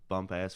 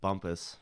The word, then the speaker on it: Bumpass: know I worked in Bumpass Virginia that's a place bump ass it's Bumpus but it's spelled Bumpass have you ever been